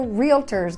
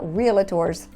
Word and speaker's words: realtor: We're realtors, guys, not realtors.